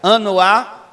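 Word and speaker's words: חַנָּה: Ana é uma palavra hebraica, um nome hebraico, que se pronuncia Anoá e significa graça.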